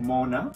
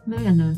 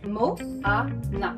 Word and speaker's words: Moana: Mona? Moana. They hear Milana. Okay, so how do you say your name correctly? Mo-a-na. A, not e. Moana.